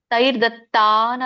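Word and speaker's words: तैर्दत्तान्: ಹೇಳಲಿಕ್ಕೆ ಯಜ್ಞಭಾವಿತಹ ಹೇಳಬಹುದು ಯಜ್ಞಭಾವಿತ ತೈರ್ದತ್ತನ ಪ್ರದಾಯಭ್ಯೋತೈರ್ದತ್ತ ಇಲ್ಲಿ ಈತೈರ್ದತ್ಯಾನ ಬಿಡಿಸಿದಾಗ ಮೂರು ನಾಲ್ಕು ಪದಗಳಾಗುತ್ತೆ ತೈಹಿ ದತ್ತಾನ್ ಎರಡು ಕೂಡಿದಾಗ ತೈರ್ ದತ್ತಾನ್ ದಕ್ಕೆ ಅರ್ಕಾವಳಿ ಇರೋದ್ರಿಂದ ರ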